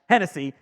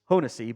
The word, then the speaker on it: Hohensee: Hennessy. And that's what we would have called him if they'd signed. After his tryout, pretty sure it's pronounced Hohensee, but whatever.